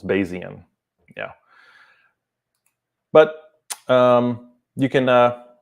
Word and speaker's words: Bayesian: So 3 syllables, Bayesian.